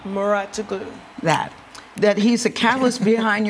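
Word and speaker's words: Mouratoglou: Muratoglu.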